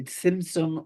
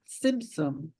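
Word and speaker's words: tsimtsum: It's that you can kind of pronounce it either way. Simsum or Simsum means literally like a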